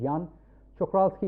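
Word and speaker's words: Jan Czochralski: I mean, I still don't know what is the correct pronunciation. It's a Czech scientist, Jan Čokralský is what I know, but if a Czech person pronounces well, it will be a little different.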